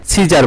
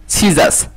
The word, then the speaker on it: scissors: অনেকে আমরা ভুল উচ্চারণ করে থাকি, কাঁচির যেটা হচ্ছে সিজার বলে থাকি, কিন্তু আসলে এটা উচ্চারণ হবে সিজাস, সিজার হবে না, হবে হচ্ছে সিজাস, SCISSORS, সিজার্স।